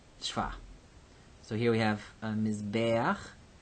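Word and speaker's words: מִזְבֵּחַ: So here we have mizbeach. This tsere is happy because it's in the accented syllable, mizbeach. But if we make the plural, mizbachot, ot is our feminine plural ending.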